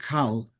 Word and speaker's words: כל: And it's written kol with a komatz, and yet it's pronounced kal as a komatz godel.